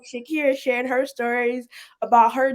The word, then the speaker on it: Shakeira: Shakira.